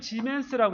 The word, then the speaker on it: 지멘스: 표제 s/m요 s를 지멘스라고 읽어요.